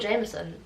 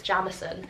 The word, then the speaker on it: Jamison: First off, I thought it was called Jameson, so I pronounced that wrong in the TBR video, but it's Jamison.